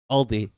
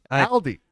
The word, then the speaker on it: Aldi: the S on and it's called Aldi Aldi Aldi Aldi Ryan I'm like what do you think of